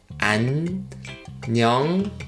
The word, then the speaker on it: 안녕하세요: This short sentence consists of 5 syllables. If you can read the Korean alphabet, just read 5 syllables. If you can't, just follow me with the romanization. 안녕하세요. Again, 안녕하세요. Okay. 안녕하세요. Again. 안녕하세요. Good. First thing I want to point out is double nasal sounds here.